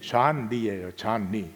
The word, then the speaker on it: 존 리: 갔는데 마침 그 돈보스코 공동체가 이제 이 쫄리 신부님, 이태석 신부님 세례명이 존 리예요. 존 리. 근데 이제 남수단 사람들의 발음으로 쫄리 그렇게 불러요.